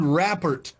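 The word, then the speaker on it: rapport: would it would read raer report right if you have neither then it's a mediocre the tea is silent because it's a French word and French people are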